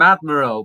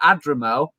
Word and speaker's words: Adrimal: I kept calling him Admiral, but Adrimal.